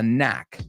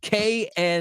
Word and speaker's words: knack: A knack. K-N-A-C-K is the word. And it's not pronounced the same as knock.